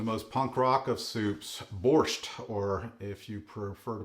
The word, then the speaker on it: borscht: Today we are making the most punk rock of soups, borscht, or if you prefer to pronounce it in the Ukrainian, borscht. They leave the T off at the end, I don't really know why.